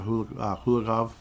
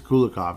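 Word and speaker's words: Kulikov: a big fan of hul kulakov uh kulakov I keep saying it wrong there's no h there's no h why am I saying H it is kulakov in this case but uh yes he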